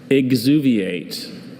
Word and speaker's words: exuviate: Are there any alternate pronunciations? There's Sicilian and Sicilian. Sicilian. Sicilian. Sicilian. That is correct. Hello. Hello, Dr. Bailey. Exuviate or exuviate.